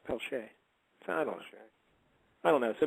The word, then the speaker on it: Peltier: I was like, oh, Peltier. He's like, no, it's Pelche.